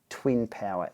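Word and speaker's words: 2INpower: this and also this the two in power SL pronounced Twin power SL the update to their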